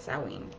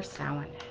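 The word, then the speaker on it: Samhain: on halloween which was known prior to that as saowin or sallen however you want to pronounce it but it's about letting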